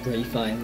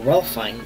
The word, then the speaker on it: Ralph Fiennes: I don't know if you pronounce him Ray Fiennes. That doesn't make any sense. There's no Y in there. So Ralph Fiennes.